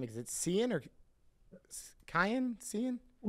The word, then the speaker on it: Cian: Is it Cian or Kian? Kian.